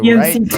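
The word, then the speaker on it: EMC2: 444 Social and Hotel EMC Squared. Is that how you say it, or is it a 2? EMC 2. Yeah.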